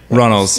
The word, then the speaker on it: Runnals: from Badfish and from... No, I said it wrong. I threw the D in there. It's fine. We just had a discussion about this. I thought that was pretty good. Runnals.